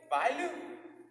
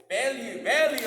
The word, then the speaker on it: Bellew: Troy Bailu. Did I say it wrong? Bellew, okay, Troy.